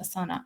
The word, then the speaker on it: Asana: asana right spelt like the yoga asana but pronounced asana don't ask me why okay but it is